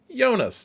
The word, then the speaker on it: Jonas: of the world world where Jay is pronounced Yonas, not Jonas as we Americans are are likely to want to say.